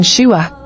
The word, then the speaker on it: Shua: shua origin Hebrew SV meaning wealthy or Rich pronunciation shua Bible verse Genesis 252v she bore him Imran